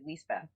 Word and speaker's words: Lisbeth: please my actually like my name's actually leas be yeah leas say again like like when you sign a lease yeah yeah you got